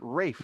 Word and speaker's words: Ralph: That was pronounced Ray and it's spelled Ralph, but he pronounces it Rafe.